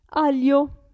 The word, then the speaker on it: aglio: abbiamo il gruppo gli in questo caso la g non si sente aglio si legge si pronuncia